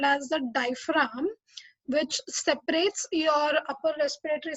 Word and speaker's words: diaphragm: Okay, इसको diaphragms pronounce नहीं करना है. The G is silent over there. It is diaphragm.